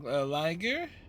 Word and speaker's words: Liger: Liger rhymes with tiger.